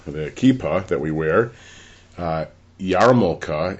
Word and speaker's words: yarmulke: In fact, yarmulke, the kippah that we wear, Yarmulke is the way it's spelled, even though it's pronounced yarmulke, means fear of or awe of heaven.